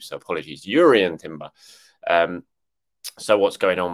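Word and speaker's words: Jurriën: with Declan Rice and Jurrien Timber. Sorry, I keep pronouncing the J, and I've been told off for doing that in the comments section on YouTube. So apologies, Jurrien Timber.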